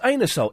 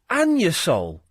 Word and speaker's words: Anusol: know what no you would think it was pronounced anusol it's not it's pronounced an your soul well it's spelled the other way well it's